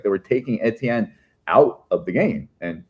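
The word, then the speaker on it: Étienne: like I do like I always went with the Etienne because like that's how like Haitian students I've had like that's how they like that's from their French Creole like pronounce it that way. So like yeah, like I mean of course I see that word and there should in theory be an accent aigu on the E, which would be a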